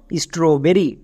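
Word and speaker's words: strawberry: STRAW স্ট্রো, BERRY বেরি, তাহলে একসঙ্গে উচ্চারণ করো স্ট্রবেরি।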